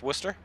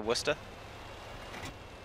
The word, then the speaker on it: Worcester: Pronounce Worcester.